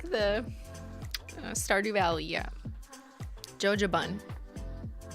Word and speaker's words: jojoba: i do believe that the proper pronunciation is jojoba where the j is silent however it's kind of